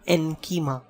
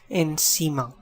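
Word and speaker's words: encima: the purpose of accent this is not in keema this is in Seema because of the rule of the consonant see next al lado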